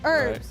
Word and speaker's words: herb: Herbs. You guys call it. Oh, that's the other one. Oh, what say herb? We pronounce the H.